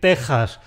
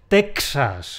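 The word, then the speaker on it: Texas: Pues entonces, si decimos tan bien y tan clarito, ¿Por qué a algunos les cuesta tanto decir ? No es . Eso se lo dejamos a los hablantes de inglés. En nuestro idioma es , exactamente igual que las tejas de un tejado.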